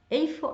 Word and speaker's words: איפה: This O from איפה can be kind of swallowed. תגיד, איפה אתה עכשיו? Like O turns into, and ta, they kind of merge together.